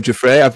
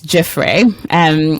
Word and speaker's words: Giuffre: Giuffre. I've said it wrong. Damilola, how am I supposed to say that name? Well, I'm humbly submitting it's Giuffre.